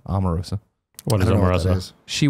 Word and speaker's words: Omarosa: a great question Greg do you pronounce Omarosa within ha or an O sound I do was enough Omarosa Omarosa Omarosa one of the Roses